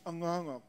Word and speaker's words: Angaangaq: Which I like so much, because my name is Angaangaq, and a shaman in Eskimo is Angakkorsuaq. So it rhymes, Aanaangaq Angakkorsuaq.